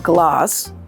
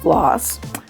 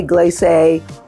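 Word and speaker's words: Glace: So the oh so kind team at Gloss rhymes with gloss because it's spelled G L A C E. So don't say glaze or glaze.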